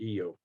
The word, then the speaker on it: Io: But you find the evidence of this in the moon EO or IO, however you want to pronounce it. You know, most people call it IO, so Carl Sagan called it EO, EIO.